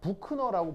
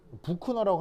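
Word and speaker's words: Büchner: 사람이 하여튼 이제 독일갠데 독일어에서 이제 ch는 크 이런 발음이 나고요 이거 이제 너 이렇게 발음하시면 돼요 이거는 이제 부호예요 부 그래서 이제 만약에 이렇게 써 있으면 부크노라고 발음하면 되거든요 북코너라고 하면 돼 독일어 발음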